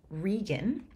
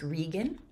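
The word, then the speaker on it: Regan: stuff you know then the second daughter named rean it's it's spelled Reagan but usually in Shakespeare Productions it's pronounced rean for some reason maybe Regal right whereas gonal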